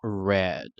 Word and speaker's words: read: si bien es cierto se escribe de la misma forma se pronuncia de una manera diferente y ahora digo red tanto en pasado como